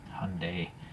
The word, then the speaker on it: Hyundai: the Hyundai logo there Hyundai I figured how Koreans pronounce it okay well anyways yeah